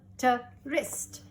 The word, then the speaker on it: wrist: WR says R and W is silent. Right, right. Wrist.